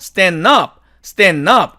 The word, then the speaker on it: stand up: 자, 그런데 이 경우도 보니까 은과 드가 만나니까 드가 사라져요. 그래서 미국 원어민들이 이걸 어떻게 발음하냐면 이렇게 없애버리고 stand up 이렇게 발음을 합니다. 자, 다음에 H번 이 단어의 사전식 발음은 candidate 이렇게 됩니다.